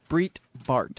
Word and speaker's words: Breitbart: Breitbart.